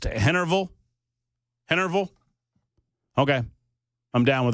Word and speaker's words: Henryville: I am being told that Henryville is pronounced Hennerville.